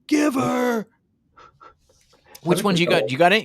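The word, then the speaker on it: giv'r: go all out and Giver is spelled g i v r I love it give her which one did you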